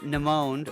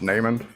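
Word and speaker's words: Namond: snitching was it a michael b dukey c nimone or d carnard uh michael and it's pronounced neyman name and okay yeah i'll correct you the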